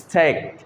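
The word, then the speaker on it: steak: করি তাহলে কী হবে, ইস্টিয়াক, আসলে এটা কিন্তু ইস্টিয়াক নয়, এটা কি উচ্চারণ, স্টেক।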